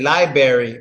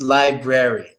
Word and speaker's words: library: of this word too A lot of them just say library because it's easier but it's library library so let's but no